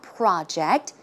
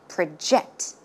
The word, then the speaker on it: project: more to project okay in this case the stress goes in the second syllable as you can see it's not project when it's a verb it should be project project one more time